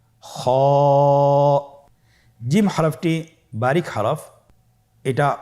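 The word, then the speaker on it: خ: খ হরফটি হলো মোটা হরফ, উচ্চারণের ক্ষেত্রে মোটা হবে। ছবিতে দেখুন খ হরফটি কীভাবে উচ্চারণ করতে হবে। খ হরফটির মাখরাজ হলো কণ্ঠনালীর শেষ ভাগ হতে উচ্চারণ করতে হয়, কণ্ঠনালীর শেষ ভাগ।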